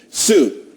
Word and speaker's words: TSU: Sue, TSU. It's pronounced Sue though.